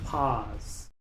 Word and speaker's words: pause: pero en este caso la u es muda, la e al final también es muda, así que solo se pronuncia la p, la a y la s. Pause.